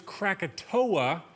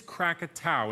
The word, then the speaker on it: Krakatau: Mount katow now most people know it as katoa but the correct pronunciation is katow and today August 26th just so happens to